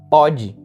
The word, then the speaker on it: pode: Já quando você tira o acento, fica a palavra pode. E pode já é no sentido de presente. Por exemplo, ele não pode fazer isso no presente.